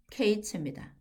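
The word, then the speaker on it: קֵץ: 근데 이제 종말 끝이라 하면은 케이츠입니다. 케이츠.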